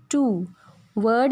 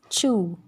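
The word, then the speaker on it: two: Next is in between the word, as इन टू। Word in the sense जब दो letters के बीच में आएगा डब्ल्यू तो वो साइलेंट होगा। ये टवू नहीं होता, इट्स चू।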